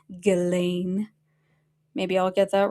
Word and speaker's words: Ghislaine: I say Ghislaine, but everybody says it's Ghislaine.